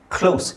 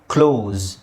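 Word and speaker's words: close: ಇಲ್ಲಿ ನೋಡಿ ಝೆಡ್ ಇದೆ ಕ್ಲೋಸ್ ಓಕೆ ಸೊ ಇದು ಒಂದು ಉಚ್ಚಾರಣೆ ಕ್ಲೋಸ್ ಎಸ್ ಅಲ್ಲಿ ಎಂಡ್ ಆಗುತ್ತೆ ಇನ್ನೊಂದು ಉಚ್ಚಾರಣೆ ಝೆಡ್ ಅಲ್ಲಿ ಎಂಡ್ ಆಗುತ್ತೆ ಎರಡು ಬೇರೆ ಬೇರೆ ಈಗ ನಿಮಗೆ ಇದು ಗೊತ್ತಿದ್ದು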